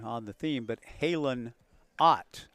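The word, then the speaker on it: Otte: The cleanup hitter has a very familiar last name, kind of a variation on the theme, but Halen Ott, O-T-T-E, but pronounced as in Mel.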